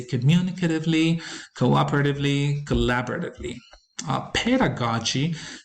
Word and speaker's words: pedagogy: communicatively cooperatively collaboratively uh pedagogy is a word that gets mispronounced in terms of stress allocation the stress or the